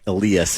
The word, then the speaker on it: Elias: on the Elias Pon which Eli Alias is the way he pronounces it um Pon um it's